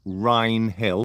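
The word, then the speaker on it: Wrinehill: you just Google the crown ill Crown in Rin Hill that's spelled w r i n e h i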